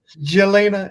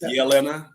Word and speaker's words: Jelena: Jelena and Jessica. It's actually pronounced Yelena. The J is a Y.